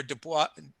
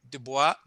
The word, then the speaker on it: Du Bois: we went to where dubois dubois du bois sorry i'm mispronouncing it du bois actually essentially at the